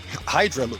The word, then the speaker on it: Hydraloop: Arthur is the founder and CEO of Hydraloop, I should say it correctly.